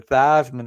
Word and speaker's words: Theismann: of people don't realize his name is actually Joe theseman but he changed at the Theisman in college to rhyme with Heisman because they were pushing